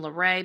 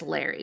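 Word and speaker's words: Larey: And I have heard people say her name Larray, but I've heard more people say it as Larry.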